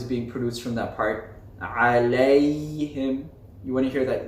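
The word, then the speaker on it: عليهم: So an example of this would be alayhim, alayhim, alayhim.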